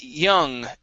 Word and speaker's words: young: kids okay now uh right here with the Y you're pronouncing a Spanish y saying j instead of Jung it start off with an e sound e y young young young kids young